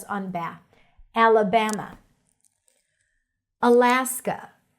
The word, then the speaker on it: Alaska: Alaska. Stress is on la.